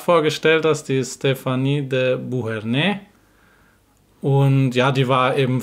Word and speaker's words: Beauharnais: Der Nachname sowohl von Stéphanie als auch ihrer Tante Josephine ist nicht Beauharnais, wie ich gesagt habe, mit dem S betont am Ende, sondern Beauharnais.